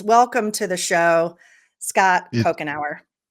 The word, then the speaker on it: Couchenour: Welcome to the show, Scott Pokenour.